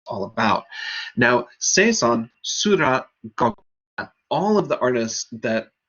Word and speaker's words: Gogh: there, Gauguin and Van Gogh. And that's the last time I'm going to pronounce it properly. Gogh is apparently the right way to say it, but we all say Van Gogh, so forgive me for that.